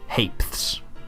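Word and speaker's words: ha'pence: in the world haes it's pronounced hapes the penny self-explanatory three Pence or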